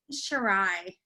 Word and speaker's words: Shirai: Shirai.